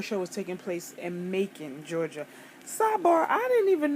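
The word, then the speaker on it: Macon: I would call it maon Georgia but they call it Mak out there like pronounced like bacon but with a M so I was like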